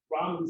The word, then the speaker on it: Raman: It's like the noodles, right? That's the way I'm supposed to say it. And then I can't remember how to say the noodles. Raman scattering.